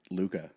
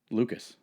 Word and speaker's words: Luka: Lucas beza as well Lucas Luca yeah but it's kind he's kind of European so I think it's pronounced Luca oh but don't don't